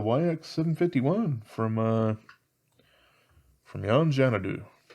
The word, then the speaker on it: Yon Xanadu: from uh from yanjanadu i believe it is china do because uh you know they're chinese and they usually pronounce x's like that apparently not all the time but a lot of the time so that's my best guess uh let's see i